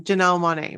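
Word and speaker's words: Janelle Monáe: there that's cool so i love that um janelle monae right that's how you say it yes i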